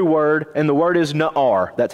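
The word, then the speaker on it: נער: there's a Hebrew word and the word is not our that's how it's pronounced no our it is translated in your Bible as little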